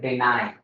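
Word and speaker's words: deny: लेकिन डेनी वर्ड नहीं पढ़ते, इसको हम पढ़ते हैं डिनाई।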